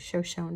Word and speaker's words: Shoshone: And then this is the Shoshone, I would say Shoshone, but they were pronouncing it Shoshone Falls.